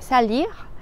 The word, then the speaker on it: salir: un reputación y eh la r del verbo salir en francés se pronuncia como una J salir salir otro Falso